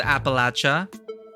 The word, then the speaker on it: Appalachia: The Jersey Devil is like the granddaddy of North American cryptids, and it's kinda close to Appalachia.